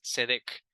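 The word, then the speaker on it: צדק: señalar aquí que es tiene una t al principio pero se pronuncia así sin la t cedec y la otra es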